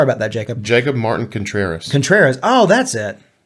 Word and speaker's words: Contreras: Jacob Martin Contreras. Contreras. Oh, that's it. I missed that R in there.